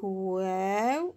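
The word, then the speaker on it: واو: Et on l'a présenté avec wow. Alors le W, quand vous voyez W, c'est la prononciation de wow.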